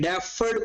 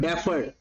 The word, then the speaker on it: deferred: Power, इसको बोलते हैं डेफर्ड परपेचुटी, डेफर्ड परपेचुटी। तो याद होने चाहिए ना, स्पेलिंग तो मेरे भी ठीक नहीं होते, डेफर्ड DEFERRED, डेफर्ड perpetuity, डफर नहीं डेफर्ड।